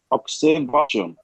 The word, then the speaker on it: observation: Observation.